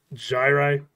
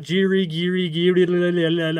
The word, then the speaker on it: Gyri: most popular name oh by the way it's pronounced gyri not jiri okay all right I am a doctor look